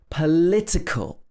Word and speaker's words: political: Political, the adjective, is stressed on the li.